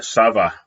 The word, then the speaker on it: ça va: And the CD, little hook under the C, try it, ça va. Ça va makes a C into a soft C or like an S sound.